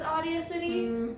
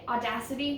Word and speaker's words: Audacity: what was wrong with audio city i mean audacity not audio city i'm